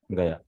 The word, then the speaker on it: Gaya: Although King Gaya, Prabhuji, Gaya or Gaye? How we pronounce this? Gaya.